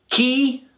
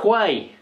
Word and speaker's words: quay: all right key not Quay not Quay now obviously you would look at that word and you say well q u but no the pronunciation is key again with these two